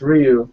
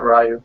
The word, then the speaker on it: Ryu: bringing into the din it's Ryu not rayu yeah Ryu sorry I'm not